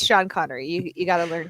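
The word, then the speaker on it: Sean Connery: course of course we also had the Epic Shan connory as and if I can say this right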